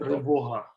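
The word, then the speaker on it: Тривога: How do you pronounce the title of the group show? Tryvoga.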